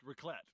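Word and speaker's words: raclette: Ralette. Ralet. Okay. It's pronounced rlet, but basically it's broiled cheese on potatoes and bread.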